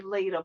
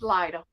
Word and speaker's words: Lita: That's why I need to, make more videos where I'm actually saying my name, because people want to say Lita, but it's Lighter. I like it.